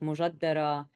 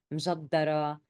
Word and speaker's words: m'jaddara: are maybe getting that there are different pronunciations for mjaddara, the dish. We call it mujaddara, mjaddara, mijaddara.